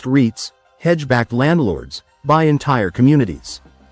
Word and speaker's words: REITs: Institutional investors, private equity funds, REITs, pronounced REITs, hedge-backed landlords, buy entire communities.